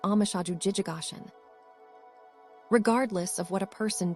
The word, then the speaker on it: omushoju jijogoshin: In our Sino, Japanese way of writing, this is pronounced amashaju jijigashin.